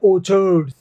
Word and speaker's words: orchard: हैं, उसको बोलते हैं ओछर्ड। यहाँ पे जो CH है वो च का साउंड दे रहा है। एक होता है ORCHID, ठीक है ना, ये होता है ऑर्किड, ये कै का साउंड देगा, ऑर्किड।